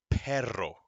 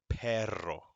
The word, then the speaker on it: perro: first word is pronounced perro gotta roll that r perro the second one caballo